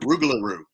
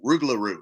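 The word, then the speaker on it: rougarou: sign I have, that's the Cajun word Ruglaroo, which they were saying in the video, right? Ruglaroo. Now, when she interviewed the guy, he gave a different pronunciation and said Loopgaroo. So this is a Ruglaroo and Loopgaroo. And there's some other variations, but those go way back. I think Ruglaroo is the number one, but you hear Loopgaroo a lot too.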